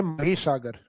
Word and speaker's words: महीसागर: उसके नाम से है माहीसागर। हालांकि इंग्लिश टाइटल तो वो माही लगता है अपने को क्योंकि स्पेलिंग वही है माही लेकिन उसका हिंदी प्रोनाउंसिएशन लिया गया है महीसागर।